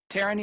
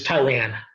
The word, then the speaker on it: Tyran: Taryn, you have a question? I see your hand up. Am I saying that name right? Yes, JB. Yeah, it's Tyran.